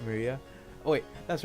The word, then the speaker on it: Maria: Of course, this is pronounced Maria.